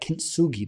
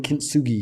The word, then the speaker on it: kintsugi: that kintsugi that searing together the broken shards man that's